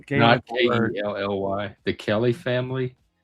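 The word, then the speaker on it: ceilidh: I think it's C E I L I D H, but I could be wrong. It's something like that. It's a gay ly.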